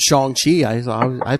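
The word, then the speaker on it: Shang-Chi: good especially you know i learned that it's pronounced chong chi i saw i pronounced it chiang chi my whole life um did they kind of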